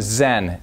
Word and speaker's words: Zen: And the same Chinese character is pronounced as son in Korea and zen in Japan.